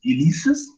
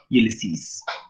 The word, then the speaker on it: Ulysses: by alpha tennison uh some people may pronounce this as elise's that's that's okay and then i mean we can pronounce in whatever way we can be but actually in greece i think they pronounce it as ulysses uh it literally profits